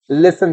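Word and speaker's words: listen: फिर किससे हो जाए लिसन से बेटा टी साइलेंट होता है लिसन नहीं लिसन बोलेंगे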